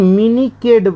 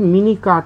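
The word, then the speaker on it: মিনিকেট: চালের ভাতটা দাও তো এখন মিনি কেড উচ্চারণ করে একচুয়ালি হচ্ছে মিনি কাট মানে মিনি মানে কি ছোট ছোট করে কাট করা কাটা অর্থাৎ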